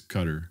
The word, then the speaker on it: Qatar: next conference and uh it's a cutter right it should be cutter I think it's like yeah in Arabic it's cutter yeah yeah but I